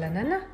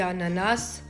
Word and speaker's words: ananas: Intendi l' ananas? Sì, ananas. Sì, ma in francese corretto diciamo "anana", non pronunciamo la S. Beh, io ho sempre detto "ananas" con la S. Sì, beh, entrambe le forme sono accettate.